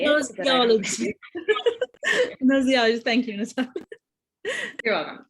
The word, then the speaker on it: gnoseology: I'm going to mispronounce this, I'm so sorry. Nina, do you want to say it? Gnosolology, thank you, Natalia.